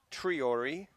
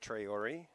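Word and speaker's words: Traore: It's number 14 is Tahiru Triori, not Traori.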